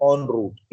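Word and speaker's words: en route: ये जो है ना इसको बोलते हैं ऑन रूट, इन रूट नहीं बोलते हैं, बट हम लोग प्रैक्टिस में इन रूट इसको यूज करते हैं कई बार, ठीक है, एज अ प्रोनाउंसिएशन।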